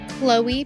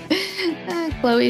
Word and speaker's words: Chloe: Chloe Parrish. I can pronounce Chloe now. Chloe, she used to pronounce it Chlo if she had to read it, so.